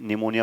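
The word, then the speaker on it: pneumonia: और पी क्या है यहाँ पे, साइलेंट है। क्रॉस का मतलब ये नहीं गलत है, ये क्रॉस का मतलब पी यहाँ पे साइलेंट है, पी को बोला नहीं जाता, इसलिए हम इसको क्या पढ़ लेते हैं, निमोनिया पढ़ लेते हैं, ठीक है।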